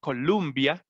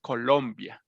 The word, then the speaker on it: Colombia: is columbus so in in english it's uh it's pronounced columbia but here is colombia thank you i was